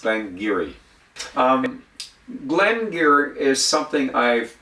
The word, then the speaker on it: Glen Garioch: Uh, this is a Doric tongue uh that was spoke for centuries in that area. So, Glenn Gerat is pronounced Glengeiri.